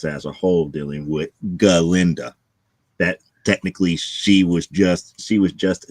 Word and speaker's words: Galinda: So instead of calling herself Glinda, she calls herself Galinda.